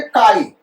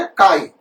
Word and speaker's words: chi: काई एच, इसको ससेप्टिबिलिटी पढ़ते बेटा, प्रोनाउंस कैसे करते, काई, CHI स्पेलिंग है, कहते क्या, काई।